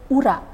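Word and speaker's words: ура: it uh well uh the right pronunciation I mean Ura Ura okay okay thank you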